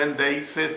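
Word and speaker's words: ἔνδειξις: Es decir, la palabra griega endeises, cuando pronuncio endeises es con letra X.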